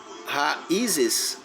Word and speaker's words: raízes: Mas se eu separar raízes, raízes, o i ficou sozinho na sílaba.